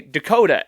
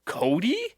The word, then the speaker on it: Dakota: name and i'd say dakota and they would go cody and i'd say nope that's not what i said at all there's an